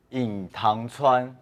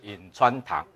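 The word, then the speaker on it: 隐川堂: 个堂号，你看这堂号怎么念？隐塘川，正确的是隐川堂啊，是念隐川堂。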